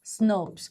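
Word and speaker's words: snRNP: Remember in splicio zone we discussed and it is what it is pronounced as snurpers.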